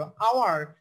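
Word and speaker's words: hour: আওয়ার, আওয়ারের এইচ এর উচ্চারণ হচ্ছে না, এটা কিন্তু একটু ব্যতিক্রম, এটা কিন্তু ব্যতিক্রম, এইচ এর উচ্চারণ হচ্ছে না বিধায় হয়ে গেল এন, কারণ এখানে এইচটা সাইলেন্ট থেকে যাচ্ছে।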